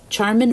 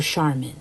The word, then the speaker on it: Charmin: of a Charmin bear Charmin or Charmin I've heard people pronounce that both ways but you know those